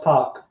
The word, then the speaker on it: PAC: Anytime you hear him pronounce it, it's always Pac.